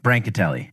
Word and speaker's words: Brancatelli: Yeah, it's like in between those two. Brancatelli.